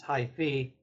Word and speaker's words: hyphy: realized that there was this other Hi-Fi which actually pronounced High Fe and if you go